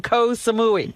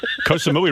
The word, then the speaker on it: Koh Samui: Koh Samui rhymes with Baba Booey.